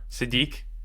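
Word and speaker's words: Sadeet: His name's Sadit. It hurts too much. Sadit.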